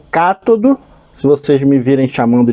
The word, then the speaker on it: cátodo: chamava isso aqui de catodo. Mas são palavras proparoxítonas, então todas elas são acentuadas e tem a sílaba tônica na primeira sílaba e o ânnodo, que é o positivo.